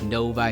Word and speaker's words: Novi: to Michigan they say hey we're looking at Novi no offense to those people it's Novi Michigan is how we pronounce it we have a lot of weird